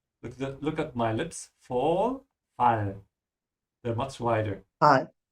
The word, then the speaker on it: Fall: Be careful with the A here. Open your mouth wide. It's fall, not fall. Look at my lips. Fall, fall.